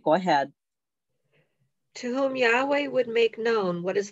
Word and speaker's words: Yahweh: Okay, so at the top you have Yahweh, and he's the Father, but people don't say it correctly. They call him Jehovah or the Lord down there. Okay, his name is Yahweh.